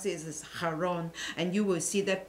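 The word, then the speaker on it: Charon: you call in english now is called kar kharon but actually in greek you should pronounce this is haron and you will see that both this religious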